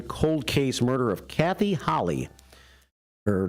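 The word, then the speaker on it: Halle: it here on wrmn and they kept saying Holly so I guess Holly is the way to pronounce that Family's last name after more than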